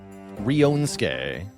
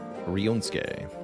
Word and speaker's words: Ryunosuke: Ryonsuke. Okay, thank you for the pronunciation assist, Sirius. I am not a Japanese name expert. Ryonsuke.